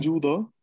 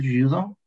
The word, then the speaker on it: judo: La pronunciación va a ser como la Yugoslavia, la Yugoslavia. Il judo. Il judo.